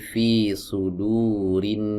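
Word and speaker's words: في صدور الناس: Tidak kita baca seperti ini. Fi suduri annas ya. Tapi fi sudurinas hamzah wasalnya tidak dibaca.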